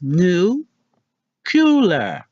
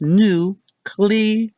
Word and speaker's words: nuclear: end number five nuclear what we've been saying is new cooler how to actually say it is new clear so long that in